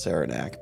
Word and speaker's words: Saranac: make sure that the root beer is actually pronounced Saranac because I mean it could have been pronounced